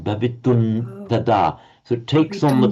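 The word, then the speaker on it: भवितुम् तदा: We write bhavitum with an M with a dot under, followed by tada, but it would be pronounced as a n because of the following term, bhavitun tada.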